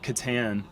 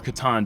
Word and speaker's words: Catan: like a game of Catan or Catan depending on where you come from and how you pronounce it but uh yeah